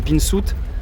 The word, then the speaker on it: pinzuti: se posaient la question pourquoi on dit pinsout alors que ça sécrit pinzuti en langue corse le